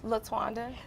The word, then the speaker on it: Letwanda: And pronounce your first name again? Letwanda.